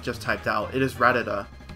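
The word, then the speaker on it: Rattata: typed out it is rata it is not ratatata there's you need one more t in it ta so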